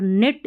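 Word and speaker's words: knit: नी, need, नाइफ और निट, इसको नाइट नहीं पढ़ना, निट पढ़ना, नॉब ऐसे पढ़ना है, K का उच्चारण नहीं होगा, ठीक है।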